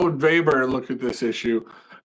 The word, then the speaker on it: Weber: But to counter Marx, right, the early sociology theory was another German thinker by the name of Max Weber, spelled like Weber, W-E-B-E-R, but pronounced Weber.